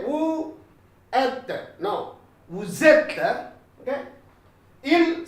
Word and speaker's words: vous êtes: Vous êtes. Get a Z sound, sort of Z sound. Vous êtes. Okay, consonant vowel together. You shouldn't say vous êtes.